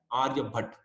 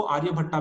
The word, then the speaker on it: आर्यभट्ट: अब कुछ लोग उसको आर्यभट्टा भी बोलेंगे, that is अप to them, वो प्रोनाउंसिएशन की बात है।